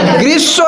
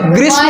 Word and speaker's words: গ্রীষ্ম: সঠিক উত্তর কি হবে গ্রীসব ঋতুতে গ্রীসব কিরে গ্রীষ্ম উচ্চারণ ঠিক আছে এরপরে ছয় দাগটা যেটা